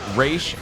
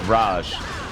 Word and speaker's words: Ra's: He specifically corrects the Raish versus Raj pronunciation.